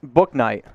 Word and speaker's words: Bouknight: guys uh is uh james or jb james book knight that is correct that is one james book